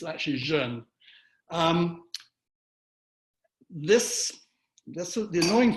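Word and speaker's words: jeune: kidding Diane was having a a funny time pronouncing this name Jun a lot of people say Jun but it's actually Jun um this that's the annoying thing about doing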